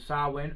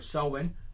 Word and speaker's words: Samhain: And it's an ancient Celtic festival, like I said before, known as Samhain or Samhain, whichever way you want to pronounce it.